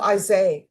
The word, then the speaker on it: Isaiah: Oh, Isaiah. Okay, the H is silent.